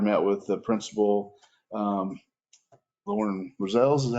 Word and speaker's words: Roselles: Ballard met with the principal, Lauren Roselles, is that how you pronounce it? Roselles.